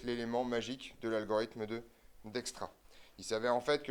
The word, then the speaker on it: Dijkstra: Donc donc on est parti petit 3 algorithme de alors je vous rappelle hein ça se prononce d'extra ça on est content